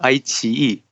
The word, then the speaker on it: iQIYI: appreciate, and that's specifically, how do you appropriately pronounce the name of this company? Well, I'll call it the iQIYI, but for the convenience of us in this